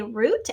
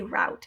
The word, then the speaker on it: route: again some people say root as in um the long double o sound ooh and some people say route either way is correct but it's spelled the